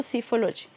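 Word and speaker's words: psephology: है, सीफोलॉजी कहलाता है, जिसमें पी साइलेंट होगा तो सीफोलॉजी।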